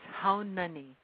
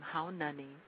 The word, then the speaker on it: Haunani: for us please sure it's how many that's my first name how Nani and my loud name is Trask okay uh how many am I saying it correctly yes you are outstanding outstanding um could